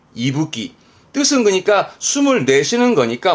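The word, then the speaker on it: 息吹: 뒤에 거는 후쿠였으니까 이때 발음은 이붓기, 이끼에서 이가 나와 이붓기입니다. 이붓기.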